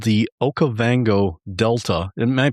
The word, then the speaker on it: Okavango Delta: Batswana and one part was called the Okavango Delta. Am I pronouncing that correctly? Yes, you are. Okabango Delta.